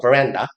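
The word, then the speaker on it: veranda: 그래서 영어 발음으로는 란다라고 읽어요. 브란다.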